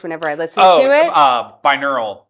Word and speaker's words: binaural: Binaural. Binaural, thank you. I knew I was saying it wrong.